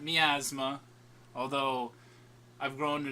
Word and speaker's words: Miasma: And that is how it's pronounced, everyone. Miasma. As in, like, the possessive form of the disease, although it's not, like, spelt the same way.